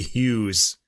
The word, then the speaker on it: Hugues: will say that so Luigi Hughes even though there's no h there anyway this album is